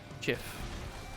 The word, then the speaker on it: GIF: It's also It's pronounced Jif.